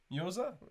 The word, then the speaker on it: Mjøsa: Mjosa?